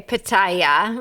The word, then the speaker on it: pitaya: Okay, pitaya.